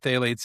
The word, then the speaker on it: phthalates: Well, a lot of the a lot of the chemicals have phthalates in it. Uh, and phthalates are hormone disrupting. Phthalates are also my favorite word that has a silent P in them.